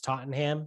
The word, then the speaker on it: Tottenham: He went to the Man U Tottenham game because I think the Glazer family owns Tottenham United in the English league. Dude, it's pronounced Tottenham. Yeah, Tottenham, whatever. Just like Stoneham.